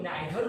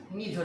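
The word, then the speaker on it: neither: आता तो ही नहीं, नीदर थोड़ी बोलते हैं, इसको तो नाइदर नोर बोलते हैं। Friends, actual pronunciation is नीदर नोर।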